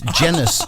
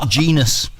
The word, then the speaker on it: Jenis: Jenis his mom saying everybody's mispronouncing my son's name it's Jenis not genus and that would must